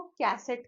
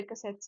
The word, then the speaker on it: cassette: अब प्रोनाउंसिएशन देखो, कैसेट कैसेट बोलते हैं सारे लोग, है ना। कैसेट कहते हैं म्यूजिक वाले जो पहले कैसेट्स आते थे। सही प्रोनाउंसिएशन है कैसेट, कैसेट, ठीक है।